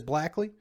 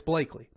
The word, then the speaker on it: Blakely: last name is because if you read my last name it looks like it says blackly but it's blakely so my family can't